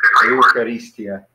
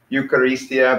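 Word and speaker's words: εὐχαριστία: So you can pronounce it like eu, like a, or I'm sorry, starting to use Greek letters, like a, eu, or you could just pronounce it like you, eu, or you, whichever one. I don't really care either one.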